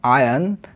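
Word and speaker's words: iron: second form goat goat Starc আটকে গিয়েছিল ইন আয়ান nail এর উচ্চারণটা হবে আয়রন নয় আয়ান আটা এখানে সাইলেন্ট থাকে আয়ান নেল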